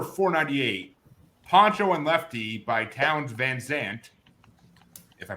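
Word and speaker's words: Townes Van Zandt: It's number 498, Poncho and Lefty by Towns Van Zandt. If I pronounced that right, I don't really care if I did, because I never heard of this guy.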